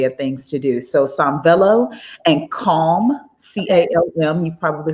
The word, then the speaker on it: Sanvello: Sanvello, Sanvello. And I'll spell it again, S-A-N-V as in Victor, egg, L-L-O.